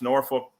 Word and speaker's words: Norfolk: out so there's lots of motels in in Norfolk is that how you guys pronounce Norfolk there in Wisner too Norfolk yep you're doing